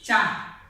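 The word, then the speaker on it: チャ: Same ভাবে আমরা লিখবো, এটা উচ্চারণটা হয়ে যাবে চা। চিয়া না হয়ে উচ্চারণ চা, চা।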